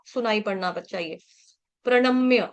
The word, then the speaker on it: प्रणम्य: का सुनाई पड़ना चाहिए प्रणम्य ण बाण का ण जो है वो बाण का प्रणम म्य म्य म्य म मैं मैं नहीं बोलेंगे इसको म्य है म्य मतलब जैसे बिल्ली म्याऊ म्याऊ करती है म्य ठीक है